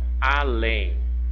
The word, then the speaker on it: além: Do outro lado, ó, além. Além, além. Olha, eu tenho novamente o que? Uma palavrinha de 2 sílabas, aonde a última sílaba é a mais forte.